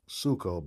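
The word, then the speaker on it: ψύχω: Sucho. Sucho. Okay, it's pronounced suko, but it's psycho in English, as we call it.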